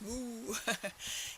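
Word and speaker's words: Mu: and add them it's moo newo moo is like mooing a cow you know the cow goes moo and it's and newo sounds like moo so it's moo newo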